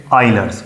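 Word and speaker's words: Euler: करके दी थी आइलर्स ये लिखा ई के साथ जाता है पढ़ा ओ के साथ जाता है। इसकी जो प्रोनाउंसिएशन है वो है आइलर्स।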